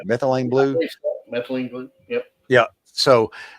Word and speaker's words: methylene blue: and they started doing this regiment of ivormectton methylane methyl is that what I am I pronounce pronouncing that right? Methylene blue methylene blue.